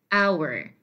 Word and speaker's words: hour: Now, it is said that the H at the beginning of these words are not pronounced. So we don't say hour, we say hour, hour, and we say honest. Okay, so the H in these words is supposed to be silent.